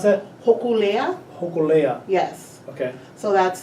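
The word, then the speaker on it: Hōkūleʻa: pronounce that? Hokulea, Hokulea.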